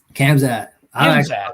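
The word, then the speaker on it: Khamzat: can't i still can't even say his name camzat that's how you say it i'm like i'm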